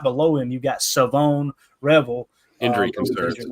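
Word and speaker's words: Shavon Revel: It is Savone Revel is how you say his name. Savone Revel. I'm sure I'll forget that by tomorrow. Like, take the H out of there.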